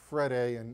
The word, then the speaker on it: Freire: It's Freire. In Portuguese, they don't pronounce certain letters.